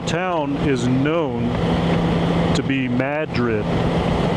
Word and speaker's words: Madrid: Uh we can take the long way into Santa Fe 2, come around through uh Tiettas and into Madrid.